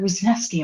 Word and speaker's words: Wisniewski: Wasneski.